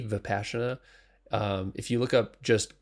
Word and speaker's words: Vipassana: that entry level, there's a meditation called Vipassana, spelled with a V, Vipassana.